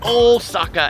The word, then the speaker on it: Osaka: Kyo two syllables and O Saka has a very long o so if you want